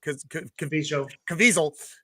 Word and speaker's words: Caviezel: I like Jim Caviezel, whose name I pronounce poorly, but it reminds me of Weasel, so it rhymes.